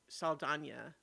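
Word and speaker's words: Saldaña: Um, I'm not wrong that she started having the tilde pronounced in her name semi recently, right? I don't think she used to be introduced as Zoe Saldana, but she is now.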